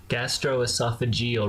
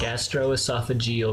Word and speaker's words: gastroesophageal: gastroesophageal reflux disease and yes that is apparently how you say it gastroesophageal reflux gastroesophageal reflux disease now i have done